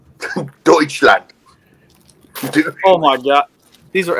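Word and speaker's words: Deutschland: is what's that say douche land yeah silent t deutchland oh my God these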